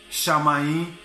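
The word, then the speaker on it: שָׁמַיִם: ela quer dizer emra com a pronúncia do céu é shamaim já no grego e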